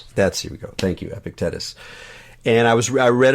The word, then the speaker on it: Epictetus: be free from I don't know how to pronounce his name. You probably know it. EP Epicetus. Epictets. Epicus. That's we go. Thank you. Epictetus.